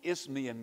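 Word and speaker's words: Isthmian: hard to pronounce words isthmus you know but there were these games known as the ismian games i-s-t-h-m-i-a-n too many consonants in a row without a vowel makes it tough you know but those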